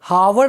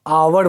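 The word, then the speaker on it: hour: लेकिन वहीं जब आवर की बात आएगी तो हम एन का यूज करेंगे, क्योंकि आवर हावर नहीं बोलते हैं, हम आवर बोलते हैं। यहाँ पर एच साइलेंट होता है और हमारे फर्स्ट लेटर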